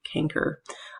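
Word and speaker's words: chancre: move that picture um this canker and that's spelled weird c h n c r e canker um this develops at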